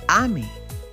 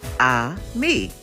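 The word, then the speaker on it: ami: say friend in French the word is Amy my mom says you say it like this ah me I love French everything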